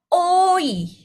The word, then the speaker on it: 오이: Ya, jadi kalau dua lingkaran ini berarti 2 huruf gitu ya hitungannya. Jadi bacanya oi.